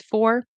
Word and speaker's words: for: are you looking for right at the end of the sentence I will pronounce it as four and I will pronounce